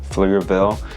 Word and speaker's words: Pflugerville: the name of the name Pflugerville the p is silent um but once you